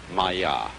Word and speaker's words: Maya: And in Indian philosophy, the fundamental word for this kind of thing is the Sanskrit term Maya. I'm going to write that down for you. Pronounced Maya.